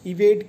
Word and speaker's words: evade: Spelling आपने देखा, इसको इनंसिएट करेंगे हम इवेड कह के। इवेड, ड पूरा नहीं बोलेंगे क्योंकि ये हाफ है, हलंत है नीचे, इसलिए ड को जल्दी से बोलेंगे।